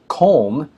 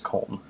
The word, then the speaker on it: Köln: it has to be from Köln, Germany. And I believe that's how you say it. K-O with an umlaut, L-N. I believe it's Köln.